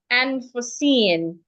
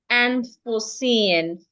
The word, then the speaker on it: unforeseen: So the word is rightly pronounced unforeseen, unforeseen, for, F-O-R-E. Americans would articulate it as for, unforeseen, with the R. The British would articulate it as O, and for, unforeseen, unforeseen.